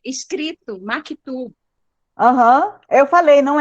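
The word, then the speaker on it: مكتوب: a pronúncia é maktub.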